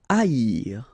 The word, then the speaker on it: haïr: Haïr. Okay, so keep in mind that here you will pronounce it like I, haïr. First H is not pronounced, okay, so haïr.